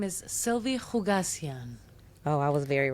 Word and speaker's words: Khoucasian: My name is Sylvia Hugasian.